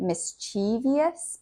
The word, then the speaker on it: mischievous: Next, we have mischievous. Mischievous. Sometimes people pronounce it mischievous, but that's incorrect.